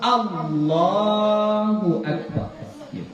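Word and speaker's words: الله: Jadinya enggak boleh ya jadi jangan dipanjangkan jangan Allah Allah itu sudah panjang itu Ya kita bilang Allah ada panjang jadi dia harus all langsung a a Langsung keelam Allah ya karena dalam Alquran ada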